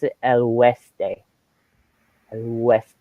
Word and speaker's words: oeste: This is actually west, and you pronounce it el oeste. El oeste, because in Spanish they don't use the W, so this kind of makes the W sound, oeste.